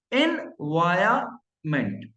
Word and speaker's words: environment: Environment. There is no R in between in Indian English pronunciation, जबकि हम बोलते हैं environment.